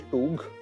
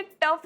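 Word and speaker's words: tough: टप गेला काय ग अहो ते टफ असतं टफ अहो त्याचं स्पेलिंग जरी टी ओ यु जी एच असलं ना तरीसुद्धा टफच म्हणायचं असतं तसंच थ्रू या शब्दाचं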